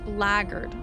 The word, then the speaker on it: blackguard: It's pronounced blackguard.